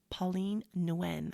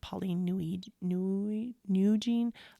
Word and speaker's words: Pauline Nguyen: And something that I learned from her name is actually Pauline Nguyen. I called her Pauline Nguyen last week, but I found out the pronunciation is Pauline Nguyen.